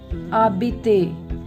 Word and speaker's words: habite: Habite. H is silent.